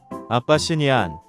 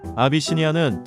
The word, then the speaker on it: 아비시니안: 구에티오피아의 이름인 아비시니아를 따서 명명된 아비시니안은 발음할 때 헷갈리기 쉽습니다. 아빠시니안, 아비니시안, 아바시니안, 아바니시안 등 다양하지만 정식 이름은 아비시니안이니 틀리지 않게 주의하세요. 아비시니안은 털이 짧은 단모종으로 뾰족한 귀가 조금 큰 편이라 퓨마를 닮았다는 소리도 자주 듣는데요.